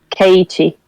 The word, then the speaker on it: Keiichi: But with the accent, it sounds like KT, like the actual girl's name.